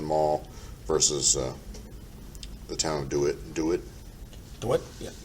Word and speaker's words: DeWitt: versus the town of DeWitt? DeWitt? Yeah. Am I pronouncing that right? DeWitt. DeWitt? I believe that's how it's pronounced, correct? DeWitt, yeah. Okay.